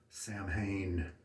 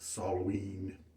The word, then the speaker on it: Samhain: well after the shave i brought samhain properly pronounced soloween and it doesn't have